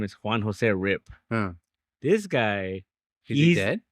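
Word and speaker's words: RYP: Oh, I thought it says R.I.P. No, it's his name. Oh, it's R.Y.P. But it's pronounced Rip.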